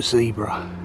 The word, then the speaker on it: zebra: now houses a gray's zebra or zebra if you're American all in your pronunciations